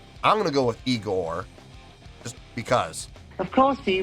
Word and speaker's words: Igorrr: me react to this it is eigor with three Rs uh per performing a